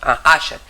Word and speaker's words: Usher: well Sandra has un user syndrome yes have I spelled it correctly user syndrome user syndrome Asher you call Asher it's spelled like this u h e r Asher syndrome which is a